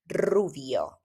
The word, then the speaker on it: rubio: But basically, at the beginning, if you have a R at the beginning, it's very strong, like rubio, rubia.